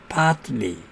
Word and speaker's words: partly: 두 자음 사이에서 T가 생략되지 않을 때 T 앞의 자음이 R일 때는 자음과 자음 사이에 T가 올 때는 생략한다고 그랬는데 partly 그래가지고 약간 T를 발음합니다.